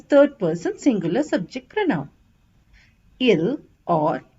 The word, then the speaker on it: ils: or e l s s is silent so it's pronounced as ill or L we use ILS when